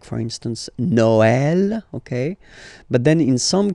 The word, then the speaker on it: Noël: that in some cases you will have to pronounce it like okay, like for instance Noël, okay, but then in some cases as well it can be pronounced like e, okay.